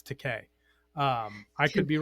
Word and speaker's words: Takei: I've heard it, it's George Takei. Takei. Okay. It, For some reason I thought it was Takai or something like now that.